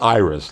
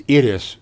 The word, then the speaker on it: Iris: The show called Itis spelled I spelled Iris like the flower, but it was Idis for them.